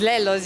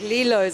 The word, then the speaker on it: Lello's: So it's Lello's, you perfect. Most people are like Lilo's. I'm like, no. So it's actually named after our grandfather, my dad's dad.